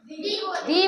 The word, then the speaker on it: the: तो द नहीं बोलेंगे इसको। डी बोलेंगे। क्योंकि हमारे जो वर्ड इस दी के बाद जो फर्स्ट लेटर है वो क्या है?